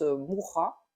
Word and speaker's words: Mucha: vous connaissez l'artiste Alphonse Mucha. Alors, j'ai regardé comment ça se prononçait avant. Donc c'est mucha, ça s'écrit M U c a mais ça se prononce mourra visiblement.